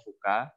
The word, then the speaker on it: VUCA: Nah, di sini saya akan sharing tentang 4 konsep ya, 4 konsep tentang kondisi, yaitu namanya VUCA ya, bacanya VUCA.